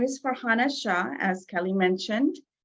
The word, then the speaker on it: Shah: my name is farhana Shah as Kelly mentioned it's just the way it's spelled Shaw has the h the Asian Shaw H and not the W so um I have